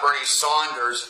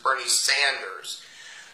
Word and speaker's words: Bernie Sanders: It's not Bernie Saunders, it's Bernie Sanders.